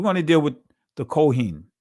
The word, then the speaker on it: Kohen: We're going to deal with the Kohen, right? Or Kohanim, right? But this is the ancient pronunciation. Kahan, we're going to deal with them real quick.